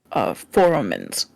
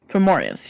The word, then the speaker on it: Fomorians: For those for over the table, they are Foromans. Fomorians? Fomorians, yes. Yes.